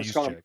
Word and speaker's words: Juszczyk: How do you pronounce his name? Juice check. Kyle Juszczyk.